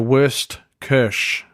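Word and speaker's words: Wurstküche: awesome food experience in LA I went to worst Kersh which is spelled w urs T ke u with the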